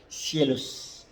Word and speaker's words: scelus: Contoh tulisannya scelus, scelus, tulisannya scelus dibaca scielus, scielus.